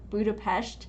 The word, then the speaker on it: Budapest: you pronounce that place budha budapes is how you say it yes a lot of a lot of people say it very different from that and there's always like